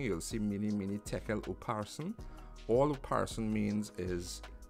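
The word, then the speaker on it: upharsin: In Hebrew, you want to say and something, you put a vav in front of it, and you pronounce it, and depending on what it is and what comes before, it be pronounced with a vowel, with a oop. So, mini, mini, tekel, uparson.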